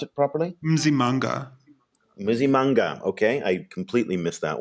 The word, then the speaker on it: Msimanga: Pretoria's mayor, Solly Msimanga, tell me how to pronounce it properly. Msimanga, okay, I completely missed that one.